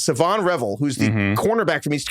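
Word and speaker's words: Shavon Revel: They got Siobhan Revel. I might be saying his name wrong, but I think it's Siobhan Revel. I want to say his name's Savon Revel. Oh, yeah, sorry, it's Savon.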